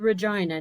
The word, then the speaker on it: Regina: brandy was seen leaving a house party at the 900 block of rey street in regina saskatchewan yes i said regina not vagina although they do sound similar that's just the way